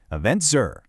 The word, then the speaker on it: EventCR: This has been Eventful Estonia from the Eventful World 2026 series by EventCR, pronounced EventZer.